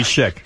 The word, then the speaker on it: chic: How's it pronounced? I don't know. I I I go to a store sometimes. Shabby chic, but I You must go somewhere else. No, I think it's Shik.